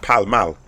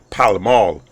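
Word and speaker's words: Pall Mall: on something straight away because you don't go cow maul you Gopal mouth over here each pronounced pal mal the Americans would probably prefer would would refer to it as pal Amal I love pudding so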